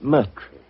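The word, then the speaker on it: Moriarty: Uh, my name my name is Mertrie.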